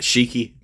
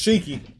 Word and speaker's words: Shiki: S-H-I-K-I. Would you call that Shiki? Yeah, that's Shiki.